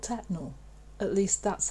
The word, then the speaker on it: Tettenhall: staffordshire in the midlands of england it's called tetnal at least that's how the real locals pronounce it locals also still call it the